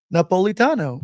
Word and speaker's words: Napolitano: naano it's not deeper issues nerdcast unless I mispronounce or up somebody's name um I'm so Sorano Napolitano Napolitano Napolitano yeah Tom Napolitano holy a